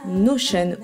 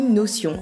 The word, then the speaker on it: Notion: deux pour notre organisation cet outil s'appelle notion ou notion à vous de voir la prononciation que vous préférez il ne s'agit pas